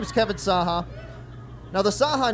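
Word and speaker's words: Cahak: Because it's pronounced Saha, but it's spelled C-A-H-A-K, right?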